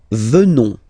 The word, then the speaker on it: venons: Nous venons. Okay? O-N-S, classical ending for nous. Okay? Final S not pronounced. So O-N, on, venons, venons. Nous venons. Nous venons.